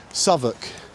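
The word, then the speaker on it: Southwark: It's a bit like Savoc. That's that's spelled Southwalk.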